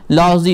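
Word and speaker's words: Lao Tzu: Next, एक coach है लॉजी, इसमें टी और यू साइलेंट है.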